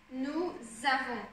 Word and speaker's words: nous avons: Par exemple ici, nous avons. Ça se prononce comme un Z, ça va ensemble.